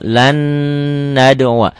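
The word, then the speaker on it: لَن نَّدْعُوَا: Ini nggak kelihatan ya bunyi N-nya. Lan nad'uwa.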